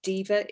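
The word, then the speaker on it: Deva: giveaway to some people diva is spelled d-e-v-a and that's the roman word for chester so it's diva empowerment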